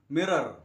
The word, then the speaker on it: mirror: Whereas the Americans always pronounce R even if it comes at the end of a word. Mirror.